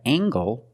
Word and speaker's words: angle: compare these two words we have angle spelled l e making the nasal sound and the hard G angle this is a